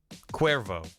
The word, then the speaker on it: Cuervo: having me barry also i pronounce my name like the tequila cuervo i was like thanks